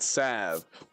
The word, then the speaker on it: salve: They they pronounce it sav. You pour the sav onto the I thought it was forever, but I guess it's sav.